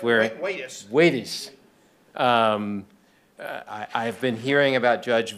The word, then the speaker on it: Waties: Actually, I'm going to mispronounce Waties Waring. Waties.